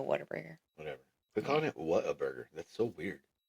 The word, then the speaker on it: Whataburger: Waterburger? No, not water.